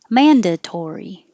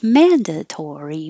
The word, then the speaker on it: mandatory: Mandatory, mandatory. I like it when words sound like a waltz. Mandatory, mandatory. Unique, same as technique.